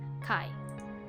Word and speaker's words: 会: As a review, the first kanji is pronounced tai, and the second kai.